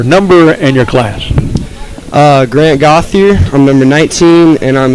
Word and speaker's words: Gauthier: I think you're saying Gaudier, but it's Gauthier. It's like an English-looking pronunciation of it.